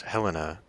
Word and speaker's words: Helena: Regardless, I mean, I realize I pronounced that Helena because that's probably how it's pronounced, but as a Montanan, I would pronounce this Helena, like the capital of the state.